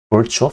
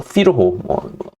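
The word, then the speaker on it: Virchow: 그 사람들이 벌초, 피르호 발음에 유럽 사람들이라서 어느 나라 언어로 발음하느냐에 따라서 이름이 조금씩 다른데 피르호라고 되게 많이 얘기를 하죠.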